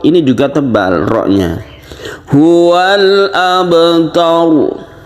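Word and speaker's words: أَبْتَرُ: Huwal abtar. Jadi jangan sampai biasa saja wanhar, huwal abtar. Jadi itu tipis ya. Jangan ditipiskan tapi ditebalkan.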